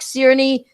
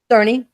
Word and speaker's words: Cerny: Dark Cloud has pics with him standing right next to Yoshida and Mark Cerny. I'm sorry, said it wrong. Cerny.